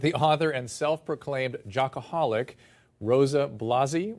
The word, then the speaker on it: Rosa Blasi: We're talking with the author and self-proclaimed jockaholic, Rosa Blasi, right? Yes. I pronounced that right?